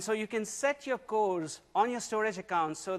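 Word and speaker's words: CORS: that we're announcing is codes yes it rhymes with doors uh and so we will be releasing cores uh this this um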